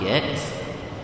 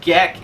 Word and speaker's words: Gex: It's not Gek. It's Gex.